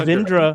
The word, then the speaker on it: Devindra: My name is Devindra phonetic. It's spelled phonetic.